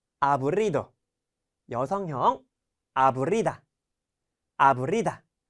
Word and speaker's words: aburrido: 자, 여기 보시면은 지금 R의 발음이 보이시죠? R의 발음 여러분들 잘 준비하면서 한번 읽어보도록 할게요. aburrido, aburrido.